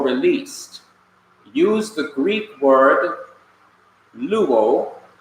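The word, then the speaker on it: λούω: In English letters, that's L-O-U-O, pronounced luo.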